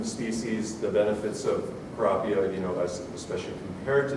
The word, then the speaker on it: Kurapia: So if you're wondering why is this such a difficult name to pronounce, just think of the word tilapia and say Kurapia.